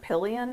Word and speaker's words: Pillion: Pillion, is that how you say it?